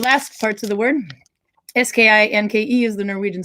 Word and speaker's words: skinke: This one, if you see the last parts of the word, S-K-I-N-K-E is the Norwegian spelling, skinka. So skinke, skinka, they're slightly different. The E on the end is pronounced E.